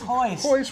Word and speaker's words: Royce: my voice I know I know it's spelled Royce but it's Hoyts Royce baby they do all